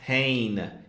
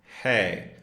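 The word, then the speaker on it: हैं: are, it's not pronounced hain, it's pronounced hey. Remember, there's the nasalized sound in the end, so if you hold your nose, hey, your nose should vibrate.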